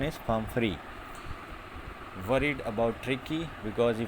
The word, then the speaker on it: Pumphrey: Pumphrey, the pronunciation is Pumphrey, worried about Tricky?